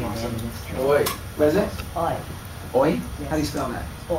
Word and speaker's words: Oi: Oi. What is it? Oi. Oi? How do you spell that? Oi. Oh, I. Love it. Oh, I. Like oi vey.